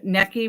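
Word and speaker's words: Necchi: by the way for those you don't know necki which is spelled NE e CC H is an Italian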